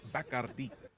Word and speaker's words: Bacardi: Rico, when we went, we were told that it's properly pronounced Bacardi, or the one with the bat. Like this, it's been Bacardi my whole life, so tough to break the habit.